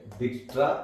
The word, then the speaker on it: Dijkstra: Here J is silent. Dijkstra algorithm.